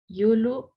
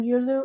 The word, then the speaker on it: Yulu: thank you and uh last but not least yulu did i pronounce that right you did thank you um i'm yulu uh it's my uh tribal name uh